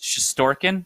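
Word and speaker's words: Shesterkin: the way i mean it's pronounced shistorkin because that's how you spell it in russian yeah but you might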